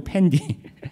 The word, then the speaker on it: 팬디: 않아 있었는데 그 인형이 이름이 팬디 발음을 조심 팬티가 아니고 팬디 팬디 를 하든 인형이 있었는데